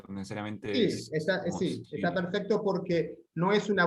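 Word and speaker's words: Syria: ¿Está bien pronunciarla como I normal, como Siria, o necesariamente Sí, está Siria? perfecto porque no es una vocal latina, es una vocal griega. En griego se pronuncia U.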